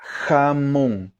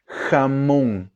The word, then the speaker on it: jamón: Então, essa pronúncia, jamón, não é jamón e também não é como se fosse com R, jamón, não, é com J.